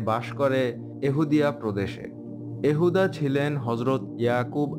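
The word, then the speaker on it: יהודי: হিব্রুতে উচ্চারণ এহুদি, আর এর পরের শব্দের শুরু ওয়াই স্বরবর্ণ ইউরোপীয় ভাষায় যে দ্বারা প্রতিস্থাপিত হয়।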